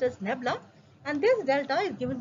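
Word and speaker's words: nabla: Here this delta, that is inverted triangle which we are having, that is pronounced as nebula, and this delta is given by I car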